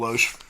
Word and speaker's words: Loesch: And we had, I think her name is Dana Loesch. Is that how you say it? Dana Loesch.